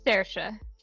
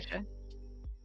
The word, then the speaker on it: Saoirse: It's Saoirse. It's an Irish name. Okay. Saoirse.